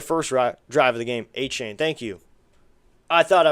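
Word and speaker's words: Achane: A chain, thank you. I thought I was pronouncing it wrong.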